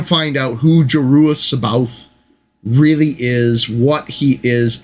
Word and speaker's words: C'baoth: But it is C''BAOTH, C'baoth. Baoth. If you go with sort of a romantic pronunciation of it, and take in the apostrophe as something going on there.